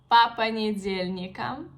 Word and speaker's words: по понедельникам: For example, по понедельникам, по понедельникам. You see, I don't pronounce O, I pronounce A because the intonation change a bit and we have the stress on the second word.